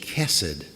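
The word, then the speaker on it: חסד: Hebrew to English but the sound has usually that CH sound to it or sometimes you'll see it written with a KH cassidy that's kind of the way the Hebrews would pronounce it Cassidy I simply go for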